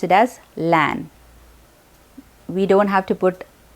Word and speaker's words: LAN: example of an acronym is lan lan we pronounce it as lan we don't have to put an lan because